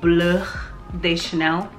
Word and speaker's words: Bleu de Chanel: This is the Bleu de Chanel. I don't know why I decided to say it like that, but that's kind of how you're supposed to say it.